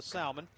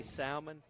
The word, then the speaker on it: salmon: Did you say salmon? I did. Uh, it's incorrect. It's salmon. L is Yeah, the L is silent.